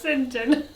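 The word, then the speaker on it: St John: A boy's No, name it of says French it's pronounced origin. St. John.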